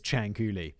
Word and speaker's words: Ciancuilli: But now I know her name is Ciancuilli, which is kind of a cool name. Leonarda Ciancuilli was born on April the 18th, 1893.